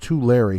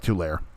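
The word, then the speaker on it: Tulare: uh let's see mark the town is pronounced too larry california oh okay too larry all right it looked like two layer okay looking at varian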